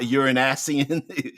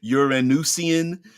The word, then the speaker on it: Uranusian: So Solaran, Venusian, Terran, Lunarian, Martian, Asturian, Jovian, Saturnian, uh, Uranusian, not you're not Uranasian, Uranusian, Neptunian.